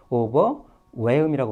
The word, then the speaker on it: overwhelm: 예, 이것도 발음 교에 L이 들어있지만 L을 발음하시면 안 됩니다. 그리고 여기 보시면 알겠지만 WH라서 H가 살짝 표시되어 있는데 이거 무시하세요. 그냥 WH 나와서 H가 있거든 무시하시고 그냥 예, W로 발음하시면 돼요.